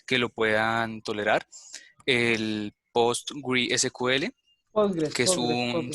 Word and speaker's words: PostgreSQL: El PostgreSQL, que es un... Sí, se pronuncia Postgres, sí, Postgres, sí.